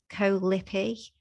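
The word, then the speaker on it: Koh Lipe: Lipi in Thailand, and it was Koh Lipi? How do you pronounce that? Yeah, Koh Lipi. I can't remember how you spell it. CO and then Lipe, I think, Lipi.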